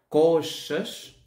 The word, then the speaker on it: coxas: ser um pouco complicada, coxas, esta X suena como um SH em parte também, coxas.